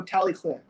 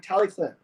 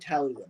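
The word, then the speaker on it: Talyllyn: i we can do we can say it the way that that the welsh say it like i think they go tally clinton it's like tally clinton something like that right i always said tallywood my whole life but really it's supposed to be tally clinton um where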